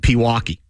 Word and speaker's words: Pewaukee: He's saying that I would have known that it's pronounced Pewaukee. Can you spell it? It's P. How is Pewaukee spelled?